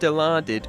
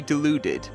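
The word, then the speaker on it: Dilaudid: Now, it's pronounced Dilardid, but when you look at the word, your first attempt would probably be deluded.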